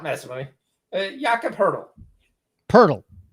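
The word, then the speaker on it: Pöltl: Purle, not hurdle. Purle. Yakaburle is how it's pronounced. Yakob purle.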